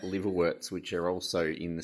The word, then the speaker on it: liverwort: Should be pronounced liverwort, but everyone reads it as liverwort because that's how it's spelled.